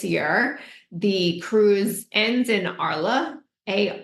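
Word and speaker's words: Arles: for 2024 this year the cruise ends in ARA a r l s French words don't pronounce of the letters so that's where uh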